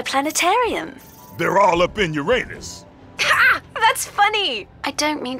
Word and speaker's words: Uranus: they're all up in Uranus that's funny I don't mean to be a prude but please no jokes about Uranus besides the proper pronunciation is Uranus it's a ductile sorry